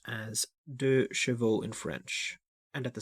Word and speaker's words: 2CV: CV Charleston by wellie 2 CV is pronounced as de Cho in French and at the same time the